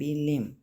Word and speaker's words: limb: ठीक है, first word है लिम, LIMB, लिम। ठीक है, इसको प्रोनाउंस लिम बोलते हैं, बी साइलेंट लेटर है, तो इसको हमने मीनिंग के साथ मैच करना है।